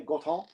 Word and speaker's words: Gorton: That's how we pronounce it down here, by the way, Gorton.